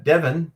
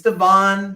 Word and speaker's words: Devon: daughter about that uh uh Devin or Devon says I keep getting wrong it's Devon Devon Devon I'm sorry for